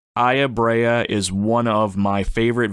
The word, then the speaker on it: Aya Brea: am one hundred percent positive that's how you pronounce her name Aya Brea I've heard a couple other pronunciations but we're